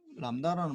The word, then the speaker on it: 람다: 그리스 문자인데 우리가 이름을 뭐라고 읽느냐, 람다라고 읽어. 람다 LAMBDA 이렇게 뭐 영어로 적으면 LAMBDA 이렇게 람다 이렇게 적는다고. B는 무기고.